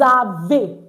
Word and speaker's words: avez: So it's not vous avez, it's vous avez. Good. So vous avez meaning you have. Not avez. It's avez. Because EZ is pronounced A at the end of the word.